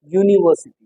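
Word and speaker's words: university: लेकिन यहाँ इसको यूनिवर्सिटी क्या बोलते हो, यूनिवर्सिटी। तो इसका साउंड क्या रहा है, ये आ रहा है।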